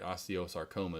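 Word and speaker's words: osteosarcoma: saroma that's now I finally said it right Osteo saroma is what it's called bone cancer and so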